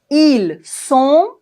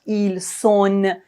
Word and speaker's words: ils sont: Ils sont, elles sont. On ne doit pas prononcer le N complètement. On ne dit pas ils sont, elles sont. Non.